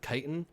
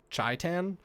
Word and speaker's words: chitin: But Flow Snake was mispronouncing chitin as like Chi-Tan, sort of like Chi-Town or something.